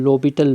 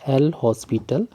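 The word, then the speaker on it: L'Hôpital: जब 0.0 फार्म होती है तो हम लोपिटल रूल को, यानी यहाँ पर लिखा है एल हॉस्पिटल, यहाँ पर प्रोनाउंस करेंगे लोपिटल रूल को यूज़ करेंगे।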